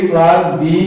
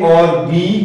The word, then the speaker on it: OR: হচ্ছে এক্স ই এ পলাবি পলা সি এটা অশুদ্ধ উচ্চারণ শুদ্ধ উচ্চারণ হবে এ অরবি অর সি এ অরবি অর সি